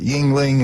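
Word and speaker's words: Yuengling: 50-cent wings, $5 draft beer, Bud Light, Miller Lite, Yingling, is that how you say it?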